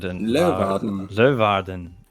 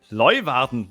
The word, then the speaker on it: Leeuwarden: I think it's Leeuwarden. Leeuwarden. It's a German stream, isn't it? So if we say it like someone German... Yeah, Leeuwarden.